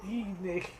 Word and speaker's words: Tine: And it's because they pronounce Tine. So it's a German thing. So. And then Bavaria call me Dine. Dine, yeah, Dine, or little Dine, Dinely.